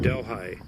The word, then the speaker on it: Delhi: Colorado along Highway 350 is the town of Delhi yes that's how it's pronounced to call it a town as being